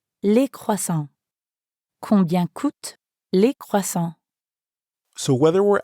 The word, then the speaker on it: coûtent: Here, coûte ends in ENT, and croissant ends in S. But we don't pronounce those letters at the end, which we know sometimes happens in French.